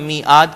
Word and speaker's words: میعاد: میعاد عین کو ہم انڈر لائن کریں گے، ہم میعاد کہتے ہیں.